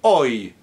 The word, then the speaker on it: hoy: Now, when the Y is at the end of a syllable, as in ay or caimán, then it's a different story. That's an I sound. As in the word hoy, today, or I, like when you complain, ay.